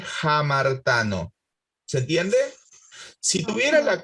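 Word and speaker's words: ἁμαρτάνω: Entonces, en vez de leer amartano, vamos a deletrear A-M-A-R-T-A-N-O, amartano, la aspiro a la alfa. Entonces se lee jamartano.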